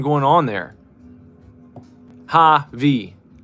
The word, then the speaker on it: Javi: Javi. What else you going to do with that? It sounds like hobby.